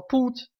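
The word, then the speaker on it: put: правил масса исключения например вот слово путь Вот оно по идее Ну должно было бы пат читаться оно пут читается слово ГВ должно было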